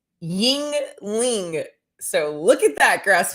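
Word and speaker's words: Yuengling: will come back okay she told me how to say the beer it's ying ling so look at that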